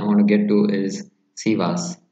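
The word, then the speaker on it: Sivasspor: son we are there almost so the next pronunciation i want to get to is sivas shiva sport yes what can you tell us about shiva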